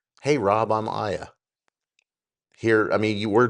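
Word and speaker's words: AIA: Aya, A I A. So I just pronounced it Aya and I said, "Every time I talk to you, I'm going to call you Aya."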